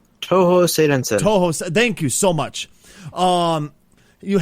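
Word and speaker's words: Touhou Seirensen: the anime style game Tuhun, I believe it's pronounced. Toho Seidensen.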